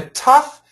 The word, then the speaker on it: tough: So, and remember, for the tough Just make it a UFF sound.